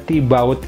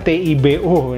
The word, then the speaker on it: Thibaut: Kemudian H tidak bunyi. T dari kata Thibaut itu juga akhiran yang tidak bunyi. Biasanya tidak bunyi. Thibaut. Ya. Jadi seolah-olah TIBO.